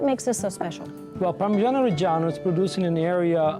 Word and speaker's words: Parmigiano Reggiano: It's Parmigiano Reggiano. Reggiano, not Reggiano. Reggiano. Reggiano. I mean, this is considered the main premier Italian grating cheese. But what makes this so special? Well, Parmigiano Reggiano is produced in an area near Bologna, which